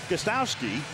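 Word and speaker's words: Gostkowski: Stephen Gostowski will do the kicking. That first K is silent.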